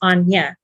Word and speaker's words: Ognie: It's not pronounced Agni, it's pronounced Anya.